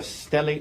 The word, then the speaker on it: stellate: head and you refer to it as a stellate laceration. Is that right? Yes. And am I pronouncing that right?